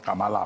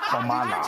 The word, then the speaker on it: Kamala: She says it's not Kamala or Amala, it's Kamala.